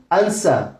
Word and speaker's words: answer: Answer উত্তর, answer উত্তর। এখানে বাংলায় র আছে, ইংরেজিতে আর সাইলেন্ট থাকবে according to British English rule.